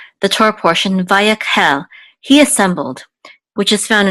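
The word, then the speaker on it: וַיַּקְהֵל: is a kuf, and the shiva is actually silent. It often is in the middle of the word, so it's part of this syllable right here, so this is yak, vayak, and this is a hey with its sere, which says he, and with the lamed it says hel, vayakhel.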